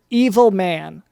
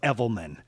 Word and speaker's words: Evelman: call me an evil it's pronounced evelman my name is evelman d evil okay well mr evelman